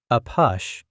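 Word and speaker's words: APUSH: A push, pronounced as the letter A and the word push, was the nickname a pus history students had used for their subject for years.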